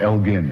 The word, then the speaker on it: Elgin: called the Elgin marbles, always pronounced wrongly in this country. It was Lord Elgin, in fact, hard G, that they had annexed in the 18th century.